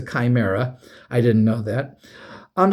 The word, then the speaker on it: Chimera: We called it Chimura cuz Chi, we just pronounced it chi and it's a D&D monster called a Chimra, but it's No, it's a Chimera.